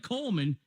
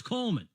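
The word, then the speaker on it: Kuhlman: how to spell it it's not Coleman it's Coleman I know same thing right that's the problem but our Coleman is German like Colonel clink so it starts with a K yeah let me spell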